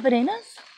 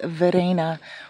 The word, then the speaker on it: Verena: Her name's Verena, or Verena. V-E-R-E-N-A. Verena. But Gino pronounces it Verena. I noticed that the R's sound like D's in Spanish.